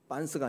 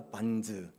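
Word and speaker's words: Barnes: 줄리안 반스가 아니라 반즈. 예, 발음을 좀 잘하셔야 되는데 줄리안 반즈.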